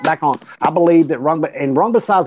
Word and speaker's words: Rungvisai: How you pronounce his name, man? Rungvisai.